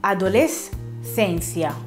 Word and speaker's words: adolescencia: Adolescencia, come nella parola adolescenza, che quindi non si leggerà adolescenza, ma si leggerà fino alla S e poi si legge la seconda altra parola come fosse un'altra. Però ovviamente tutto diciamo velocemente, altrimenti sembrano due parole staccate.